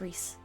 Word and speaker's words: Rhys: what either needed me to be my name's Reese by the way oh um how do you spell it Rhys right uh do I remember